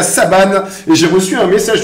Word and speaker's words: Saban: il aime bien dire Saban pour que ça rentre dans la tête de tout le monde, mais non, ne vous méprenez pas les amis. Le N se prononce. Ok, bien merci. Comme Peter Sagan.